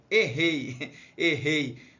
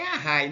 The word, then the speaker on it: array: Então eu faço só o desenho do quadradinho, clico no comando, está escrito aqui array, mas a pronúncia é errei. Mas é array, né?